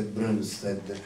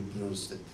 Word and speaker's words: Brønsted: Loebli e uno danese Brønsted, con la O praticamente, con quella la O tagliata a metà che si pronuncia con una OE o qualche cosa del genere.